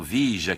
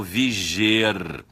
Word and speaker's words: vige: O verbo que significa estar vigente, que significa estar em vigor, é o verbo viger. A pronúncia é o contrato vige, o contrato vigeu.